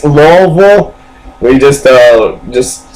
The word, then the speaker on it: Louisville: we don't say it's Lewisville we don't say it's Louisville where you say it's laille you just uh just